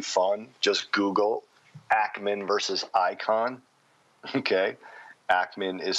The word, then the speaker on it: Icahn: just Google Ackman versus icon okay Ackman is spelled ack ma n and icon is not spelled ICO n although he's an investing icon it's I see Ahn and so about I